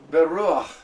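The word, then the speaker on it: בְּרוּחַ: It is going to be a H instead of H-A. Beruach, beruach, beruach, beruach.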